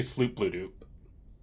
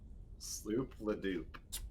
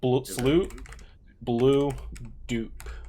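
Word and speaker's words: Sloobludop: It's actually Sloop Blue Dupe. Sloop Ladoop. Sloop Blue Dupe. Oh, Blue Dupe. Perfect.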